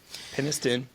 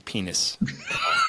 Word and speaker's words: Penniston: So Penniston, and I'm not saying penis, but I want.